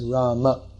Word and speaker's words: Rama: you have to say rama but i that's the full mantra no don't but in in hindi at least no one says rama they say ram in hindi in hindi